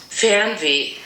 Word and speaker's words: Fernweh: Fernweh. So this is what it sounds like on Google Translate. Fernweh.